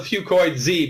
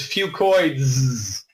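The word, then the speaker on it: Fucoidz: I call it Fucoid Z because that's easier to pronounce. But really, the correct way to say it is Fucoids.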